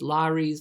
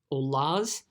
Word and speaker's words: Lares: I've heard it pronounced as Lares, Lares, or Lars, Lares, or Lares, okay?